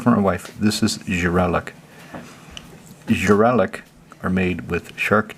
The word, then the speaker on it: žralok: That's a žralok. Žralok? Žralok. Žralok. You heard it from my wife. This is žralok.